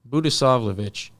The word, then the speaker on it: Budisavljevic: names right so so just the J sounds like a y and then the C is pronounced CH buddas slavage no sorry say it again buddhis slavich buddhis slavich oh see